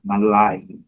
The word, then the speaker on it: malign: Malai, malai, malai. Muito simples, mas sempre lembrando que a última sílaba que é a forte, está aqui marcado, conforme a discussão do dicionário Cambridge.